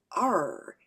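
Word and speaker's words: Yr: R, like an engine revving. Pronounced like an R, Morgan confirmed. Spelled Y-R.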